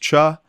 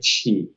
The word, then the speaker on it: Chi: I saw one person make a comment, hey, I think it's actually pronounced Cha. I've been saying Shea, and it's actually... It is actually Chi. Chi.